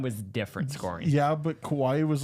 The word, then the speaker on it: Kawhi: Okay, so Kawhi, Yeah.